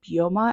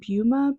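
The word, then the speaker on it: Byoma: so obsessed with is I believe bua I think that's how you say it buma bua b y m a they're moisturizer is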